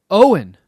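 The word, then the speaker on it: Eoghan: word it means born of the yew tree Owen I would have never guessed that that was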